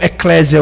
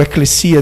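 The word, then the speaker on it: ἐκκλησία: Aqui ele não tá usando eclésia ou eclesia, dependendo da pronúncia, que significa igreja.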